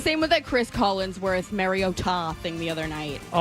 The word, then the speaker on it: Mariota: Yeah, it we've been calling him Marcus Mariota forever and then the other night they just decided that it's Mario Ta.